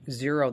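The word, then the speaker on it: Xero: also a uh a program called zero that's it's spelled with an x x e r o and that's free for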